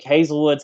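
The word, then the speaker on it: Haselwood: on this side by the way uh so hazel wood is is spelled hasselwood but it's pronounced hazelwood that is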